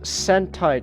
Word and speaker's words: Sentai: So let's just get to Well, real quick, Sentai Chelsea. I'll even spell it out for you. I got it. It's like hentai, but with an S instead of a heh sound, Chelsea.